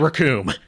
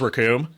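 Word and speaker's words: Recoome: heard him say is Raccoon, and they've done this in both uh Funimation and Ocean Dubs is the the name's Raccoon, it rhymes with Doom, and you'll be hurting all too soon.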